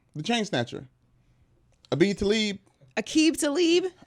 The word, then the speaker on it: Aqib Talib: chain snatcher ABI talib Aqib Talib you akita leave that's how you say it yeah you leave quali